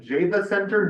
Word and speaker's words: Java Center: We all went up to Beaver Hollow, a conference and resort center in Java Center, New York. Yes, that is how it's pronounced.